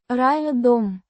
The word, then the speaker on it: Рядом: Pronounced ryah-dom with a soft r and a slightly stressed ah sound in. ryah.